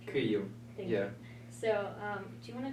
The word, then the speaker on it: Kyiv: They started bombing Kyiv. Pronounced that wrong. Kyiv.